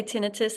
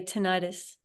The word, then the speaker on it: tinnitus: tenus or tenius um in Australia we say tenus I think the Americans say tenius Okay um yeah crossing